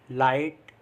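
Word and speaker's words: light: Next rule है हमारा, जब आई के बाद जी एच टी आए तो भी आई को आई से पढ़ते हैं, और जी एच टी में जी एच साइलेंट रहता है। मतलब जब भी जी एच टी साथ में आ रहा है तो उसमें जी एच को हम पढ़ते नहीं हैं, जैसे फाइट, राइट, लाइट, नाइट, माइट।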